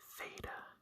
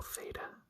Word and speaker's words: Theta: So Theta is pronounced like an aspirated T, as in top. So aspirated is almost like a breathing sound. So ta, ta, ta.